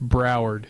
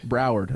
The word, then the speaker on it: Broward: can't say that 62-27 it's pronounced broward broward it's so easy i